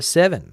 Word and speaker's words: Severn: Andrew, River Severn, pronounced like the number 7. River 7.